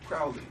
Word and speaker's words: Crowley: foully they call me crowley uh so there are these rhymes that give us the understanding of what his name how his name was actually pronounced uh it's a very